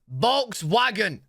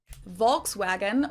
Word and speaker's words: Volkswagen: English speakers call this Volkswagen. Volkswagen, while in Germany we usually just call it VW, VW, VW.